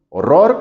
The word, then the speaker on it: horror: Horror, horror como en español, pues no. Y esa es la diferencia. En inglés la fuerte es la de atrás y es horror. Of the shade.